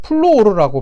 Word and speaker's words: 플루오르: 선생님한테서 나는 이 원소를 플루오르라고 배웠습니다. 플루오르라고, 독일어식 발음입니다. 플루오르라고 이제 표기하고 배웠는데, 지금 친구 여러분들은 영어식 명칭인 플루오린이라고 이제 부르고 있죠.